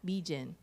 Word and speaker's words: Mijin: Let me say it the proper way, right? Mijin. I've been living in I've been Americanized in my pronunciation too much.